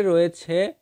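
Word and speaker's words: راء: রা, মুখটা গোল হয়ে যায় অনেকের, মুখ গোল করা যাবে না।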